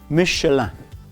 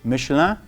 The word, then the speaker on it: Michelin: And actually it's a tire company in France, and it is pronounced as Michelin. Okay, Michelin.